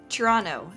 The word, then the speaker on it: Toronto: um that's there well I'm from Toronto not Toronto not Tirana but Toronto Toronto that's how you say it and you would